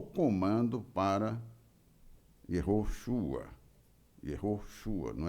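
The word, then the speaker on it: יהושע: Yehoshua, filho de Num, Yehoshua, é até difícil pronunciar, porque é Yeho. Esse Ro aí é Yehoshua. É quase inaudível o som, mas fica Ro, não é forte assim. Yehoshua. Yehoshua.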